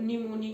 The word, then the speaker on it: pneumonia: Tuberculosis, निमोनिया की spelling देख ले, इसमें पी साइलेंट है, निमोनिया साइलेंट है।